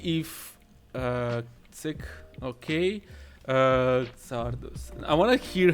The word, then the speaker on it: Czardus: uh sick okay uh zardos i wanna hear how he's uh being pronounced ah it okay tardus okay let's see and it's pronounced chardous if it's in czech chardos and in polish i don't know